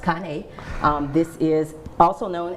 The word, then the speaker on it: Cane: is a Kane Corso it looks like cane but it's pronounced Kane um this is also